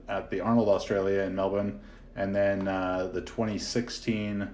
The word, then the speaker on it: Melbourne: 45 minutes outside of Melbourne uh notice any Australians listening I hope you I hope you appreciate that proper pronunciation of Melbourne not Melbourne um but yeah I